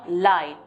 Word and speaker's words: leid: Es tut mir leid.